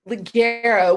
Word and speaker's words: Ligero: Well, there's Honduran Ligero. We went through this one day, pronouncing it correctly.